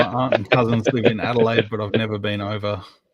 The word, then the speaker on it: Adelaide: he has gotten a pretty pretty heavily it's pronounced ah delayed we the last St to get anything my aunt and cousins live in Adelaide but I've never been over tell them to